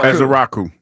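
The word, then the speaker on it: Ezeiruaku: Ezrau.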